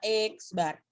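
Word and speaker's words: x̄: Jadi kalau kamu menemukan simbol seperti itu adalah simbol min, dan cara membacanya adalah X bar.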